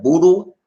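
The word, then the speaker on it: budol: Spell it, Lisa. Boodle. I posted it in here. B-U-D-O-L. B-U-D-O-L. Boodle.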